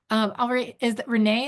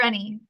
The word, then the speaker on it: Renee: Renee, is that how you say it? Rennie. Yeah. Rennie, sorry, yeah, thank you.